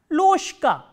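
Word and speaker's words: ложка: So, we will pronounce this word as loshka, loshka.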